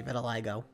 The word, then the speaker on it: vitiligo: I just looked it up on Google. It is actually Vitiligo.